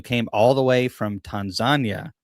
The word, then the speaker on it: Tanzania: all the way from Tanzania, which we usually say Tanzania. And I asked him, I'm like, "How do you say it?" And he's like, "It's Tanzania." So, the Tan the Tanzanian called it Tanzagna.